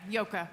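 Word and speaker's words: Joke: okay you did yeah it's spelled j o k which was a difficult name to immigrate to the United States with but uh it's a very Dutch name yeah yoka I have to credit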